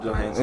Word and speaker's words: Johansson: Yeah, Johansson.